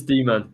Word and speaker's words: Damon: I'm assuming that you pronounce it Damon. It could be demon. Yeah, it's demon. It's demon. I'm pretty sure.